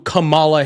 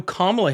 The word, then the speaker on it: Kamala: What you're just saying is No, I don't know who Camala Harris is. I know who Kamla Harris is.